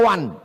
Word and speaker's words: one: One dibaca wan.